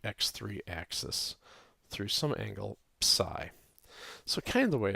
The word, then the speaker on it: psi: And although we always say psi in English, the correct Greek name is psi, which rhymes with 3.